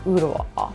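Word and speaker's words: Ooltewah: Your T is going to be more of a D. And let's just forget that the L is even there.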